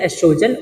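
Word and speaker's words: oestrogen: दो हार्मोन होता है एक होता एस्ट्रोजन उसकी स्पेलिंग ओ से स्टार्ट होती है ठीक साइलेंट होता है और दूसरा होता है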